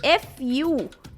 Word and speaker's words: furosemide: with a different spelling, so it sounds as frusemide. Okay, Frusemide, while in USA it is Furosemide. So the spelling is changed and the pronunciation changes.